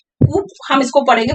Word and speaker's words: coup: जैसे C-O-U-P है, कूप हम इसको पढ़ेंगे, पर ये कूप नहीं है, ये कू है, P silent है.